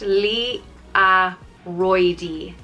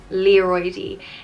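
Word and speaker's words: liathróidí: leroy which means balls it's pronounced li a roidy leroidy leroid is ball and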